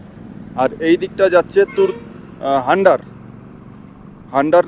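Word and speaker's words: Hunder: এইদিকটা যাচ্ছে তুর হান্ডার হান্ডার নামে যে ভিলেজ বা হুন্ডার যে যেরকম উচ্চারণ করেন এইচ ইউ এন ডি আর একচুয়ালি উচ্চারণ হচ্ছে হুন্ডার কেউ হুন্ডার বলেন কেউ হান্ডার বলেন তো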